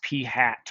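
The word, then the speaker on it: p̂: p hat that's how you say it is p hat with that little symbol over top of it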